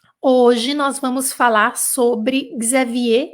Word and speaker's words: Xavier: E aí, Xavier, a gente pronuncia Xavier.